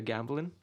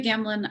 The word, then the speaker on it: Gambelin: I'm here with Gambelin, if I'm pronouncing correctly.